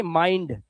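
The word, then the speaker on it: mind: अब आपके पास ये भी जवाब है कि इसको यूं इसलिए पढ़ा जाता है, जब आई के बाद एनडी या एलडी आएगा तो आई का उच्चारण आई ही करना, जैसे माइंड आई के बाद एनडी,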